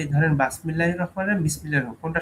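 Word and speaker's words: بسم الله: যে বাসমিল্লাহ না বিসমিল্লাহ, এখন আমি জানি যে আরবরা বা তারা কখনোই বাসমিল্লাহির রহমানির রহিম রাহমানির রাহিম এটা উচ্চারণ করে না। বাসমিল্লাহ এটা কি ধরনের একটা শব্দ? বিসমিল্লাহির রহমানির রহিম এটাই উচ্চারণ করে, এটা আমরা জানি।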